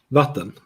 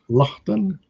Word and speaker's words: vatten: Vatten. Vatten. Vatten. Lachten? Vatten. Vatten. Yeah. Latten.